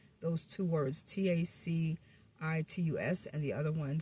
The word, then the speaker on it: Tacitus: Especially the way that I pronounced that word. I think I said it wrong. Those two words, T A C I T- U S and the other one C I R C A.